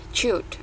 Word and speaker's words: cute: Enggak, ini bacanya C-nya itu tetap dibaca Mbak C. Jadi jangan diganti jadi kah. Cute.